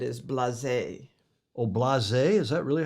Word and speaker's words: blasé: John Frederick Bland says the blas, what we said is blasé. Oh, blasé? Is that really how you pronounce that?